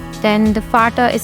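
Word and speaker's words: Vater: uh F then the fata is spelled like v a t e r I say it like f but on the other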